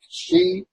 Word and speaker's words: Sidhe: It sounds like she. It is. It looks like the word she, like the female pronoun.